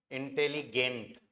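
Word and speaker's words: intelligent: कोई इंटेलिजेंट है तो आपको यूज करना है इंटेलिगेंट, स्पेलिंग सेम रहेगी, प्रोनाउंसिएशन अलग रहेगा। इंटेलिजेंट को हम इंटेलिगेंट बोलेंगे, और जो नहीं है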